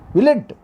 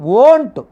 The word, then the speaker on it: won't: Willn't. Will not. This is a contract form. Won't. Not willn't. Will plus not. We should pronounce won't.